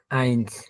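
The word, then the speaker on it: eins: আমরা বলি ওয়ান, ডয়েসে বলতেছে আইনস। আমরা বলি দুই বা টু, ডয়েসে বলা হয় ছয়। ড্রাই, ফিয়ার, ফুনফ, জেক্স, জিবেন, আট, নোয়েন, সেন। টেনকে তারা বলতেছে সেন। আবার বলি, শোনেন একটু সবাই। নুল, হুম। আইনস, ছয়, ড্রাই, ফিয়ার, ফুন, জেক্স, জিবেন, আট, নোয়েন,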